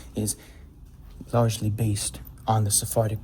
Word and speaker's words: Sephardic: And this pronunciation of Hebrew is largely based on the Sephardic pronunciation of Hebrew.